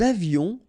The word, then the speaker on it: avions: Nous avions, final S not pronounced, and then little liaison.